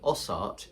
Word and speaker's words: osaat: And then some years ago now, I was contacted by a lady in Finland who told me that OSAAT, pronounced osat in Finnish, means you can.